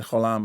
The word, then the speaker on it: Gholam: And in fact, I know this for a fact because I interviewed the director, and I was calling it Gollum before, and she said Gholam, and I said, I'm